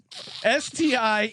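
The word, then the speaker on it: Stiegelmeier: And the coach Stiegelmer. How do you pronounce that? Stiegelmer? Yes. Stiegelmei.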